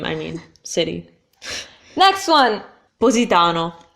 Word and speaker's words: Positano: mean City next one Positano Positano so Positano again have the difference between the two as SS SS yeah Isis so for her she's gonna see more with S sound worse for me I'm saying it the more standard Italian way our city Bombay bump